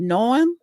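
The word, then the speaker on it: Noem: Secretary, how you pronounce her name? Noam, yeah. Noam.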